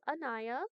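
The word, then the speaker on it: Anaya: It's just phonetically similar. A N A Y A for the listeners. It's not E N A I.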